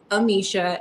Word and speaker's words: Amicia: My Instagram account is Amisha, AMICIA TV.